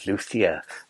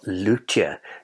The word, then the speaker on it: Luthier: They were very kindly given us a copy of the retail version of Luia or Lutia, depending on how you wish to pronounce it.